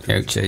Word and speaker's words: Yautja: Yautja. Yautja, yeah. I couldn't pronounce it, that's why I said, what's the alien called?